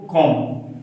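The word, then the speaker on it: comb: इसको कॉम, क्या बोलेंगे, कॉम, बी का उच्चारण हम नहीं करेंगे।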